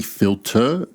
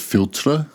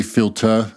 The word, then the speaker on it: Philtre: when I Googled how this perfume should be pronounced it's actually filter instead of filter like me trying to be a fancy french- speaking person it is actually filter and I stand to be corrected by Haram